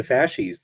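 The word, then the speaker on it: fasces: of history um you invoke fascis the the fascis the the bound bundle of sticks I I don't know if I'm pronouncing it correctly yeah that's right yeah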